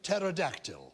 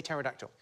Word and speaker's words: pterodactyl: Name a Greek word with a silent P. Enos. Sigh. Do you mean as in pterodactyl?